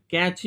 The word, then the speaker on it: cache: बहुत सारा आदमी लोग ये भी यूज करता है pronunciation कैश memory. कैश memory is नॉट the correct. The correct pronunciation is कैची memory.